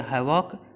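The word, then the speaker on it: havoc: अभी जो इसका की है वो है हमारा, देखिए हैवॉक हवा का, हैवाक हवा का, देखिए एकदम पूरा सिमिलर है। हैवाक इसका प्रोनाउंसिएशन और हवा का, हैवाक हवा का एकदम सिमिलर है।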